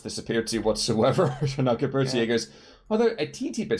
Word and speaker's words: Gebirgsjäger: Gebirgsjäger?